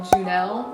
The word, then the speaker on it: Junel: a different pill called Junel or junal I've heard it pronounced both ways and I started taking